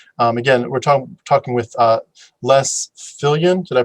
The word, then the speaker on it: Viljoen: But again, we're talking with Les Viljoen. Did I pronounce that correct? Yeah, Viljoen is how it's pronounced in South Africa. Leslie Viljoen, thank you so much for being willing to share your story.